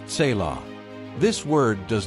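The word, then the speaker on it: צלע: That word is tzila, pronounced tselah.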